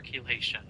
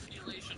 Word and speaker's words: chelation: Also, do not know what chelation is. I had to look up what that was. No, I had to look up how to say it. Why does word that starts with C-H-E sound like key?